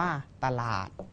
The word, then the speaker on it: ตลาด: 2 ตัว แล้ว แต่ ต้อง ไม่ อ่าน ออก เสียง อะ กึ่ง เสียง ที่ พยัญชนะ ต้น นะ ครับ คำ ว่า ตลาด อ่า สะกด อ่าน ว่า ตล อา แล้ว ก็ ด เด็ก อ่าน ว่า ตลาด นะ ครับ สวาย อ่า